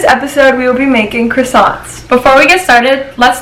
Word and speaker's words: croissant: You pronounce it croissant. Croissant.